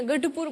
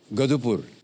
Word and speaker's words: गढ़पुर: सर गढ़ आता है ना, गढ़पुर बोलिए, कोई बात नहीं, गढ़पुर। गधुपुर। ढ ढ गधुपुर। गढ़पुर। हैं? ग ढ ढाल वाला ढ।